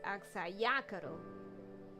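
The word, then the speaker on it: Axayacatl: Actually, fun fact, Axayacaro is actually pronounced Axayacaro. Emphasis on the ya part.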